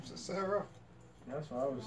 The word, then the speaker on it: Sisera: and say he's looking for how do you pronounce his name? Sisera.